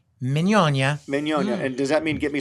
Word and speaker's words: Mignogna: nice of you because nobody says that pronounces it that way unless you're in evilly yes the right way if you're in the old country yes it's a Vittorio manyanya does that mean give